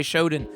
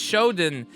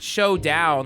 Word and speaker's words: Shodown: I don't think it's Shodown. Well, it's not Showdown like SHOW. It's show. I think it's Samurai Shodown. I don't know. What are you talking about? Samurai Showdown. Look how Showdown is spelled. SHODOWN.